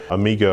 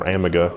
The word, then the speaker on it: Amiga: mp3s Were A Thing amiga or amega depending on how you want to pronounce It had this really Amazing